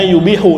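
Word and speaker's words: يُبِيحُ: Bacanya yubihu dari abaha yubihu.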